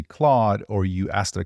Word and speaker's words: Claude: and ends with pick my name rhymes with odd and starts with the third letter of the alphabet so starts with c and Rhymes of odd Claude I share my name